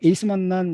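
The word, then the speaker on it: acemannan: 점액 다당류인 만남 뭐 영어 발음을 에이스 만난 이렇게 해야 되죠 근데 뭐 아세만난이라고 해도 뭐 틀린 말은 아니에요 일본이나 한국은 원래 뭐 발음상 아셈 만남이라고 할 수도 있기 때문에 뭐 에이스 만남이라고 하는데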